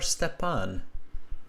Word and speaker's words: Stepan: May I ask, is the pronunciation of your name Stefan or Stepan? Oh, you you can pronounce it like you want, but in original pronunciation, it would be better to say Stepan.